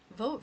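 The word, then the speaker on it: Vought: During Donald Dump's first term, Vote, whose name is pronounced vote, Yep.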